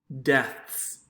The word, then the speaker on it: deaths: give you a hint it looks like it's a long e but actually we kind of changed the pronunciation so it's actually a short e deaths so wat death or